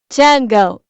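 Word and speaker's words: Django: Tango. The D is silent.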